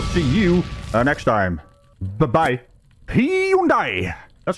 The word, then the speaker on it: Hyundai: Hyundai! That's how you pronounce it.